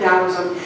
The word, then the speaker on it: Taoism: If you're not familiar with Taoism, it's spelled T-A-O, not D-O-W as in Dow Jones. That's something completely different, but it sounds like that.